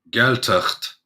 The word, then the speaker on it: Gaeltacht: If I had to learn the phonetics, but yeah, Gaeltacht is how we would pronounce it in that, because obviously prototonic, which means emphasis is on the first syllable, and then when you